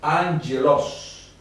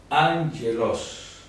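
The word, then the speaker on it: ἄγγελος: Establece que en presencia de doble gama la primera gama tendrá sonido de n como que fuera una ni y la segunda sonido de entonces en vez de decir a veloz la palabra se pronunciaría and hielos angelos porque esta se transforma en N el sonido el sonido de n y el sonido de la que funciona como una consonante angeloz angeloz Perfecto perfecto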